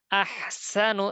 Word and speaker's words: أحسن: আহসানু, সিন চিকন করে, আহসানু আমালা। أحسن الذي خلق الموت والحياة ليبلوكم أيكم أحسن عملا. الذي خلق الموت والحياة ليبلوكم أيكم أحسن عملا. এরকম যেন না হয়, লিয়াবলুয়াকুম আইয়ুকুম আহসানু আমালা।